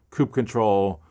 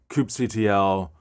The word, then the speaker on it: kubectl: how to pronounce it hence we have Coupe control coup CTL kubectl uh all four that same phrase that same uh executable for managing kubernetes God dot I